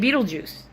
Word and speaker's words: Betelgeuse: Uh there one of the the stars, the one Betelgeuse. I'm not kidding, that's its name. It's spelled like Beetle Guys, but you pronounce it like Beetlejuice.